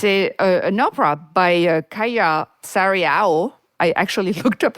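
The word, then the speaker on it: Kaija Saariaho: It's an opera by Kaya Sariao. I actually looked up how to pronounce her name, the late Finnish composer, and it was staged by Simon Stone.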